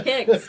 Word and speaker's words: KYKS: kyks does i know kix is pronouncing kicks keeping your kids safe so what we do